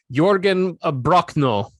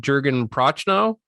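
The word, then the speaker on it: Jürgen Prochnow: Sutter Kane is played by the legendary actor Jørgen Brochno. I believe that's how you pronounce it. For the longest time, I just called him Jørgen Prochnow because I didn't know. When I was young, 1994, I was 14. I didn't know names had weird actual translations to them,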